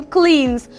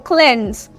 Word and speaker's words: cleanse: cleans H I know we are used to say cleans the blood of the Lamb cleans us from seen now that a wrong pronunciation so say one cleanse cleanse I have been